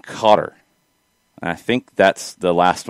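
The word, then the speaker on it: Qatar: that is accurate katie somewhere between cutter and cotter i think that's the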